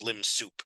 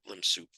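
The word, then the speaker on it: lim sup: top of a or it's sometimes referred to as limb soup of a which is you that's how I will refer to it limb soup uh it means limit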